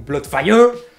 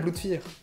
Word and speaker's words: Bloodfear: Et du coup pourquoi je le prononce pas à l'anglaise comme il devrait se prononcer, donc Bloodfire? Et bah de 1, parce que c'est chiant à dire, et de 2, parce qu'au moins c'est un peu plus original Bloodfear.